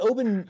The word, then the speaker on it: Oban: I just poured some Oban 14 into some ginger ale with some ice, and I gotta say, it's like a whole different drink.